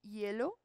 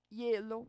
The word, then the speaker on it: hielo: Por exemplo, água e hielo. Hielo, vocês notem que a parte tônica é no E, hielo.